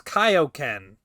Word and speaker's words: Kaioken: It's Kaioken.